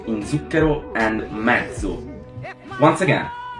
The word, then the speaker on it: zucchero: Z, like in zucchero and mezzo.